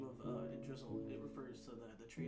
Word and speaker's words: Yggdrasil: Yggdrasil. Yggdrasil. That's the tree. Yggdrasil. Yeah. Yggdrasil. I'm gonna go Yggdrasil.